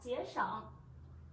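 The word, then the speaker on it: 节省: Từ này chúng mình đọc là chế sỏng.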